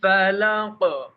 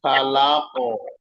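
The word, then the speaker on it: فلق: হল কফ খেয়াল করবেন কফ হল মোটা হরফ তো ওই মোটা হরফকে উচ্চারণ করতে গিয়ে বারিক হরফটা টাকেও মোটা বানানো যাবে না। যেমন ফালাক ফালাক লা ফালা লা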